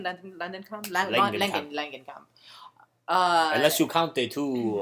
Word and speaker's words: Langenkamp: Langenkamp.